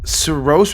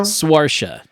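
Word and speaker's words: Saoirse: Is it Sos Ronin? How is her first name said? Do you know Swaria?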